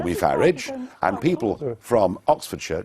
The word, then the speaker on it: Farage: how to pronounce it I say farage farage yeah as as I would say garage very well but thank